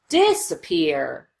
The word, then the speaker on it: disappear: And if you notice this middle syllable, we just rush through as quickly as we can.